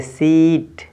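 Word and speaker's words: seat: तो देखते हैं एग्जाम्पल्स में, जैसे लिखा है यस ई ए टी, तो यस ई ए टी से ए आपका साइलेंट है तो इसको पढ़ेंगे सीट।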